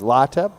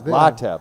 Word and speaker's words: Lateb: Lateb. I came to the right place then. Yeah. Lateb. Yeah. Lateb. Lateb. No, I'm saying it right. Is it B pronounced? Yeah, B. Yeah. Yep. Okay, Lateb.